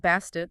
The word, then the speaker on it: Bastet: Bastet, the way we usually say it now, that's actually a later convention. They added that feminine suffix, the T sound at the end, probably to make sure the final consonant was pronounced clearly. Earlier on, she was often just called Bast.